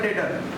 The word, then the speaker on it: debtor: इससे उल्टा होता है बेटा, इससे उल्टा होता है डेटर। क्या होता है? डेटर। बी साइलेंट है यहाँ पे।